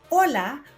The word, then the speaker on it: hola: Ang pinaka-basic at pinaka-common ay ang ola which means hello or hi. Silent ang letter H sa Espanyol kaya ito ay hindi hola kundi hola.